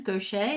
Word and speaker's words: Goché: So, welcome to the show, Gocha. Is that how am I pronouncing your name correctly?